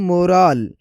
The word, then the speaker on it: moral: जैसे कि उर्दू साउंड देखा जाए तो पहले जो है मोरल और दूसरा है मोराल, मोराल। फ़र्क वॉवेल और एंडिंग साउंड में है, जो सुनते ही क्लियर लगता है।